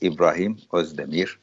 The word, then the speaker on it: İbrahim Özdemir: My name, as you pronounced very well, is a very well-known name. It's Ibrahim Özdemir.